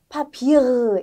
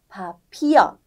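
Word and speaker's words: Papier: 그리고 뒤에 있으면 파피르 이렇게 아니라 파피어 이렇게 되는 거예요. 그래서 그때는 소리가 입술에서만 나오는 거예요.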